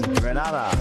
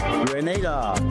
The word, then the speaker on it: Grenada: So today, like we German say, we are in Granada, but I heard in English it's called Grenada.